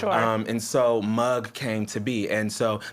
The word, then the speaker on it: Muggd: Um, and so mug came to be. And so the spelling is m u g d. The d is silent, but it's about your mug, right?